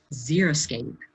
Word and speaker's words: xeriscape: little to no irrigation, but a lot of people change that X and it's spelled Xeriscape, xeriscape. Most people change that X to a Z and they say, zero, that means there's no plants.